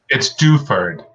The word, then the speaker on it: Duford: Help me with her last name pronunciation, John. It's Duford.